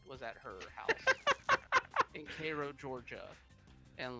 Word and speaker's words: Cairo: Spelled like Cairo, Egypt, but it's pronounced Cairo, Cairo. motherfucker.